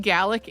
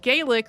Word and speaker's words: Gaelic: archipelago and also that Scottish Gaelic is pronounced gallic and not Gaelic which is how I said it in the episode enjoy welcome to stuff